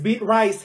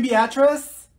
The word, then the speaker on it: Beatrice: name in the world it's beet rice here did she say she's beating you mean Beatrice thank you Mikhail ma'am